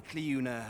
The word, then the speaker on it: Cleuna: But as for his wife, well, suffice to say, Cleuna has always been a Cleuna. So that's how you pronounce that. It's like Gaelic, so I thought it was going to be like Flor.